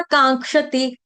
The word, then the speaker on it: कांक्षति: शोचति न कांक्षति, कांक्षति, कांक्षति में क्या है, क्ष, क्ष जो है ये आपका कैसा होगा, क्ष क्षत्रिय का है, यानी आधा क लगेगा अधिक श, तो क से शुरू होने वाला है अनुनासिक का, क ख ग घ ङ, इसलिए कांक्षति, कांक्षति, कांक्षति, ये जो आ